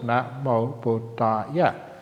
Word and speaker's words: Namo Buddhaya: They say to each other, Namo Buddhaya. We know which means homage to the Buddha, which is useful because it has 5 syllables, Namo Buddhaya.